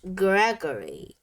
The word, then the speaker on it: Gregory: Gigi owns the oddities shop and is followed everywhere by her pet, Voodoo doll, Gris, pronounced Gregory.